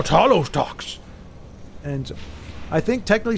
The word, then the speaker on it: Talos: One. Tal Talos. No, it's two syllables.